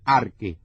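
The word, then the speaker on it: ἀρχή: diseñador de la creación el archie que se pronuncia arque Y es de donde sacamos nuestra palabra arquitecto que traducida termina siendo Precisamente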